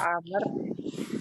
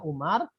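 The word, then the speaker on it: عمرو: Karena kalau kata Amr ditulisnya kayak gini, maka dikhawatirkan orang lain membacanya apa? Umar. Nah, jadi untuk membedakan kata Amr itu supaya orang lain membacanya Amr bukan Umar, maka ditambah wawu di akhirnya.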